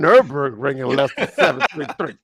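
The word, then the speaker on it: Nürburgring: beat by the porsche i can't even run nurburgring and that's exactly how they say it too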